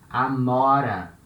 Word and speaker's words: amora: For example, amora. Amora, it's a fruit. It's blackberry. Blackberry in Portuguese is amora. Now letter O has this open sound, O, amora.